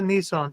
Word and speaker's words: Nissan: Nissan. That's actually the way it's pronounced.